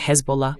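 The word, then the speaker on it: Hezbollah: Primero que nada, él dijo Hesbola. La pronunciación correcta es hesbola.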